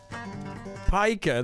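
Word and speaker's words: Piker: alaskan who's already prepared the colored pika pika that's how you say it pika hasan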